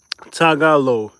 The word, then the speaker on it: Tagalog: Yeah, Tagalog.